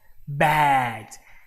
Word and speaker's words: bad: Bed, bad. Probably you can also understand now why. Because the moment you say bad, you see how open your mouth is.